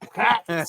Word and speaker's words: Dukakis: Dukakis. That's the way it's pronounced.